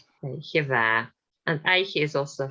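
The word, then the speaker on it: oidhche mhath: Aicheva. So DH is not pronounced. It's in the middle of the word, so it's not pronounced. Aicheva. It's there, but it's not pronounced. Aicheva.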